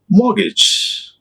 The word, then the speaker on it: mortgage: is see this one mortgage mortgage not a mortgage it is a mortgage this is this is to syllable mortgage mortgage and see